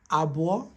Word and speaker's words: Abụọ: 2 is pronounced as Abụọ.